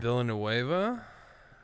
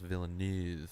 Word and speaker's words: Villeneuve: Villanueva? I think it's pronounced Villeneuve. I think it's like a French. Yeah, French Canadian.